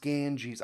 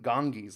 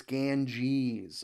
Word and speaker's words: Ganges: G GES and its tributaries flow it is pronounced Ganges I always I keep forgetting this I want to call it like gang gang gangis like he said ganga but it's Ganges okay South you reach the Sakura and vinda